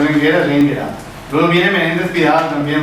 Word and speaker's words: Enguera: Dossá, dice que es Enguera y que la gente exagera pronunciándolo. Semejante carácter esdrújulo, llegando a decir Engra.